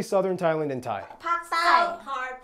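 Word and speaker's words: ปักษ์ใต้: Pak Thai.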